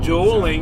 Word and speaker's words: Dowling: David Dowling. That show needed to be shorter anyway. Or David Doling. It's spelled like bowling, but with a D.